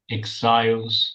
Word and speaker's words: exiles: exiles, Rhymes with isles, exiles. These two rhyme.